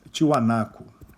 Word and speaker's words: Tiahuanaco: foi a civilização de Tiahuanaco e de Huari, ou Huari, com W. Isso entre 500 e 1000 aproximadamente. Ao que tudo indica, tanto Tiwanaku, que é outra forma de pronunciar o Tiahuanaco, né, e Huari foram capitais, centros de dois impérios.